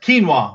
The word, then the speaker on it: quinoa: Sam says pronounced quinoa.